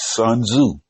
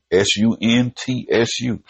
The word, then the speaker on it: Sun Tzu: But in The Art of War, written by a gentleman by the name of, the way that I see to pronounce this is Sun Tzu, Suntsu.